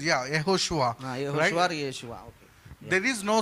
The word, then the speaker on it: Yehoshua: And in fact, మరి నిజానికి చూస్తే the proper pronunciation for the name Jesus is Joshua. మరి యేసు అని మనం పలుకుతాం కదా, ఆ యొక్క శబ్దము అది మూల భాషలో పిల్లరా యెహోషువ అని దానికి అర్థము. And in Telugu it is Yehoshua.